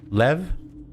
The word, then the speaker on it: lev: Le. Okay. Le. Am I pronouncing it correctly? Le. Lev. Okay.